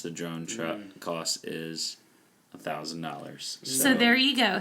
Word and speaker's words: X: 10 can I have the iPhone x 10 it's pronounce 10 can I have it